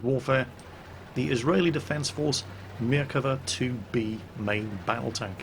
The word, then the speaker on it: Merkava: The Merkava, and I had to look up how to pronounce this because I always called it the Merkava because, you know, I'm English, but no, it's Merkava apparently. Hebrew for chariot, named after the charioteers that King Solomon used to take into battle.